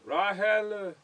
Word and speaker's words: Rachel: name ryan alpha is rachel yeah but you know how they pronounce it rahel really yeah japanese people